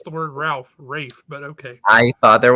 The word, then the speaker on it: Ralph: but they pronounce it Rafe.